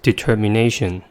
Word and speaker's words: determination: the last word is determination the word has five syllables and the stress is at the fourth one the first syllable is